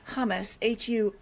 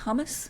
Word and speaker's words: humus: So you make a really compelling point that we rarely credit humus, Humus, and I'm not talking about Tabulian hummus, but that with influencing wine character. So humus, or is it humus?